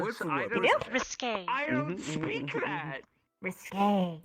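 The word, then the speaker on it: risqué: risky. Risk. You mean It's risque?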